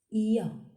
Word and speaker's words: ي: The 28th letter is pronounced Ya and is written from right to left on the line. Ya has two dots down. Ya, like in year.